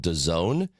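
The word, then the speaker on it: DAZN: bought out by a network called Done. It is spelled D- A ZN.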